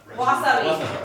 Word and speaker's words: wasabi: What's the correct pronunciation? Wasabi! Wasabi!